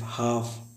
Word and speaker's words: half: है उसके पहले अगर एल आए तो एल साइलेंट होता है। जैसे लिखा है टॉक, TALK, टॉक में बात करना। HALF, हाफ।